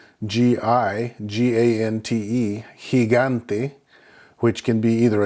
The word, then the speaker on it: gigante: So again, you can see in those two examples, GE and GI makes the H sound, whereas normally the G or the G makes the normal G sound like in English, G.